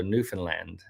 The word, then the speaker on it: Newfoundland: learned something okay new Newfoundland understands with understand rhymes with understand so Newfoundland understand okay got it so not not Lund land I know but houses and land Newfoundland Newfoundland understand okay I think that's